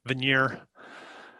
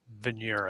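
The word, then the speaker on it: Vigenère: key to breaking the venire cipher the Vanir Vanir something like that big veneer I think it's pronounced French he's a French guy key to breaking the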